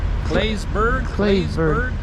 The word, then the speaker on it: Claysburg: I can never say the name right. It's like C-L-A-Y-S Berg. Claysburg, I think is how you say it.